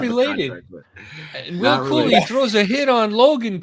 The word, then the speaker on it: Cooley: But I think it's Will Cooley, right? That's how you pronounce it? Cooley, yes.